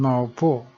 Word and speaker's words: maupo: Notice that the stress mark in maupo goes down to the left, which means it is pronounced fast and no closure of the throat, because it is not in the end of the sentence.